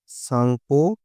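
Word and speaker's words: Tsangpo: तो जो ट्रांस हिमालय और महान हिमालय को अलग करती है रेखा उसे कहते हैं इंडो साको सचर जोन सांगो को इंग्लिश में टी से उसकी स्टार्टिंग टी साइलेंट होता है इसलिए इसे आईटी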